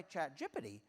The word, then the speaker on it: ChatGPT: And amusingly, I did have this talk edited not just by ChatGPT, which is how you do pronounce it, but also by GitHub Copilot.